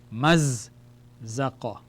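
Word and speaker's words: مزّق: We have to pronounce the za twice. The shadda indicates the letter is twice. So the letter is saying, join me and call me again. Maz zaqa. Mazzaqa. Mazzaqa means he tore.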